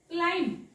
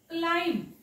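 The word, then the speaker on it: climb: म ब वापरायचा नाही क्लाईम क्लाइंब क्ला इ म ब वाचायचा नाही त्याला झोपवायचंय नेक्स्ट बघा टी च्या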